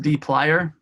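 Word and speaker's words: dplyr: worthwhile just to read this is called pronounced deep liar just there is no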